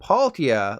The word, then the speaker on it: Palkia: Except it's not Di as in dice or Pal as in those things I don't have. They're actually pronounced Dialga, like D from It's Always Sunny in Philadelphia, and Palkia, like the beetle.